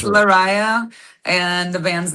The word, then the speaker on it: Lariyah: Did I did did I pronounce it okay? Cuz I hate if Oh, no worries. It's Larisa, and the band's name is Devinwahr.